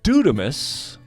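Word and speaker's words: δύναμις: But this word authority in Greek is pronounced exousia. And this other word is dunamis, for power.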